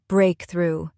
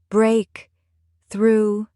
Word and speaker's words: breakthrough: Take the word breakthrough. Two syllables. Break through. Stress is on the first syllable.